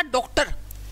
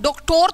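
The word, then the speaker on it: doctor: आपने क्या लिखा डॉक्टर अब ओ दो बार आया एक बार यहां और एक बार यहां ये जो बाद वाला ओ है ना ये तो साइलेंट है ये तो क्या है ये तो साइलेंट है है ना साइलेंट क्योंकि हम डॉक्टोर थोड़ी ना बोलते हैं डॉक्टर बोलते हैं तो ये ओ तो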